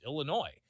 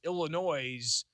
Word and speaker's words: Illinois: Illinois' team is going to do that. But you can't add that S at the end. It's supposed to be silent.